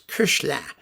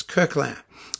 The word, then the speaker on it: Koechlin: Some people said it was Koechlin. Well, it isn't. It's Kirkland.